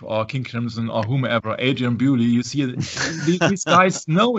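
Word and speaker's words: Adrian Belew: King Crimson or whomever, Adrian Bewley, you see these guys know each other. You know that Adrian Blue here in the United States is pronounced blue, as in the color blue.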